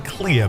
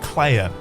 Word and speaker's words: Clea: I've been saying clear, but they pronounce it clay.